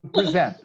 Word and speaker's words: present: The verb is to present. Yes, when I make a roll call, Erica, present. Here is a verb to present. The intonation is in the second syllable, not in the first syllable, okay?